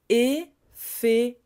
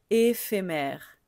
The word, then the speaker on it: éphémère: Donc pour la prononciation, le pH se prononce comme un F et on a sur la lettre E le dernier qu'on ne prononce pas.